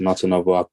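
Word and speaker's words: Natanava: um n-a-t-a-n-a-v-a so um it's pronounced not another i'm probably not pronouncing it right myself but so yeah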